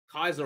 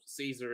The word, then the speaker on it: Caesar: But unless that continues, and unless you do it the way that Kaiser, or Caesar as he's normally pronounced, unless you do it